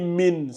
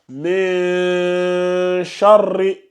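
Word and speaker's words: مِن شَرِّ: Aïssatou, fais attention au ikhfa, là. Faut pas lire min, c'est charri. Donc fais juste attention à ça, reprends cette partie-là. Ici, là, fais attention. Faut pas, j'ai entendu min, c'est pas min, c'est un ikhfa qui est là. Min charri.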